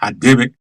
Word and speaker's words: Radebe: Radebe is pronounced Hadebe. The R in Xhosa is pronounced as H.